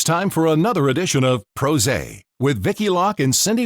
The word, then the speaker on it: PRose': a because we love pros and we're pr professionals pros and pros a rhymes with rose and the show's during